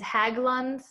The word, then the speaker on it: Haglund: first one is is haglund the same as a heel spur and i don't know if i pronounced that correctly you did pronounce it yes so so haglan's in